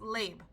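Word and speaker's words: לב: So the word for heart in this scripture is actually, I believe it says it's pronounced leb, L-E-B.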